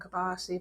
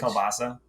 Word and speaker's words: kielbasa: My daughters like pierogies and kibasi, but I hate kibasi. Kibasi? Kibasi. Kibasi on the barbie. Isn't that how you say it? The Polish sausage. Kielbasa.